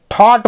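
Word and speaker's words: thought: रहे हैं सिर्फ दो अब जैसे यहां पे टी लगा होता तो थॉट पढ़ते उसको थॉट वहां पे भी जी एच का उच्चारण नहीं होता थॉट मतलब विचार होता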